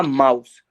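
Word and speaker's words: Maus: ये रहा माउस, माउस।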